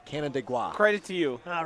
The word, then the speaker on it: Canandaigua: It's almost like Canada, but not quite. Canandaigua. Canandaigua.